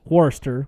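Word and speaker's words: Worcester: He's like, "He lives in um let's say pronounced in the New England way is Warester, which is actually Warchester."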